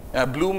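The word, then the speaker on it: Blume: So the model that I'm going to describe is, so how do you pronounce the second one? Bloom? Bloom is fine, and how, Capel, or how do you pronounce the next person?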